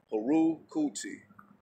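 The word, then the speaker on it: Herukhuti: I'll spell it out for you. Haru. Cahoot. Not Cahoot. Nah, not Cahoot. H-E-R-U-K-H-U-T-I. Haru Kuti.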